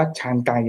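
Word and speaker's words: Chancay: ใน เปรู นะ ครับ นะ ครับ อ่าน ว่า ชานไก นะ ครับ นะ ครับ ที่ เอ่อ ตัว ท่า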